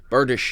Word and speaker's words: bardiche: No, it was one of those books that taught you how to say the word bardiche. Yep, it's a bardish.